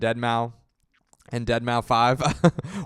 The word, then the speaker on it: Deadmau5: And they'd be like, you don't even know, like you don't even know how it's pronounced. It's called Deadmau5.